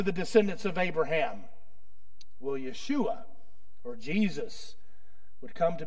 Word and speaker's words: Yeshua: Jesus it means Yahweh saves in Hebrew it's pronounced Yeshua the Old Testament equivalent was Joshua and the